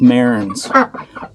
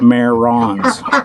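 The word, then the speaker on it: Marans: get it right um it's a French name and it's pronounced Marin's not mare wrongs Rands it's Mariners so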